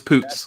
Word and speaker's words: Poots: and it should be her last name is poots of our competitors the fun name what walt